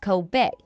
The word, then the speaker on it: Kobe: The only difference is that Kobe's name is pronounced Kobe, whereas the Japanese beef is pronounced Coobe.